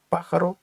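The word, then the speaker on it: pájaro: Пахаро ельпахаро негро. Птах чорний. Ельпахаро. В даному випадку третій склад з кінця обов'язково повинен бути наголос.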